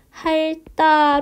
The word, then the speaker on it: 핥다: 있는 어감 말 받침이 lts 의 영향으로 할 다가 아니라 핥다 로 발음된다 라고 생각하시면 되겠습니다 어 선생님